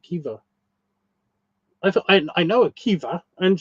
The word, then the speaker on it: Caoimhe: Quiver or Kiva. That one's spelled Caoimhe. The fuck are they doing? The fuck are they doing? That does not sound like Kiva.